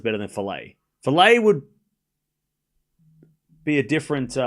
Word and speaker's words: Falei: Did we figure out how to say her name? Falei. We're going Falei.